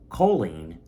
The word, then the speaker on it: choline: and 200 milligrams of choline, which I found out that's how you pronounce it.